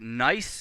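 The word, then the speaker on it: gneiss: a picture of uh the rock nice and that's spelled g n e i s s and this is sort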